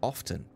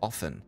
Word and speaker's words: often: always known it as often or often some people pronounce the T and some don't so this is really